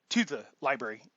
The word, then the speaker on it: LBRY: It's spelled LBRY. The links are in the description right now. But if they delete my channel, then you won't have access to the um, library.